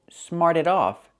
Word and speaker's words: smarted: The student smarted off to the teacher. So smart in the present, in the past, smarted. We hear that T pronounced a fast D. Smarted off.